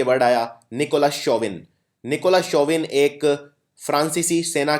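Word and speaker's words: chauvin: का अगला शब्द है show विनिस सी एच ए यू को हम प्रोनाउंस करते हैं शो शोविन एक शब्द सुना होगा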